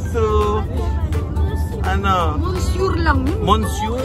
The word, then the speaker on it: monsieur: Monsieur? It's spelled monsieur. But you say monsieur. Ba't gumagano pa yung labyo? Monsieur. Parang mayroong halak dito na nakadikit. Parang umatras yung dila. Oo, parang umaatras ang dila mo.